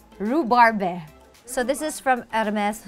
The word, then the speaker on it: Rhubarbe: How do you pronounce? Rhubarb? Rhubarbe.